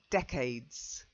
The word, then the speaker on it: decades: The first one, you did try to your pronunciation was fine. It's the stress. Okay, so decades.